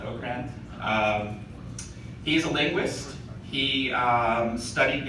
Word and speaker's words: Okrand: some different expanding directions Marc Okrand as I found out today pronounced autocrat he's a linguist he